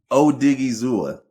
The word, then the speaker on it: Odighizuwa: Can't say his last name, but don't need to because Odighizuwa. Say it again. Odighizuwa. Odighizuwa. It's Okay. exactly how it's spelled. It just looks like those letters shouldn't be together on paper.